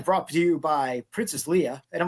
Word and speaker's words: Leia: Jeff Caffrey, who's an actor, he always says Leah. It's no Leia. He always says Leah because the one general in A New Hope that says this plan brought to you by Princess Leia, and I'm like, no.